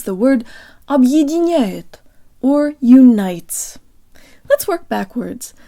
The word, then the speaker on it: объединяет: guys, today you'll learn how to pronounce the word Объединяет, or unites.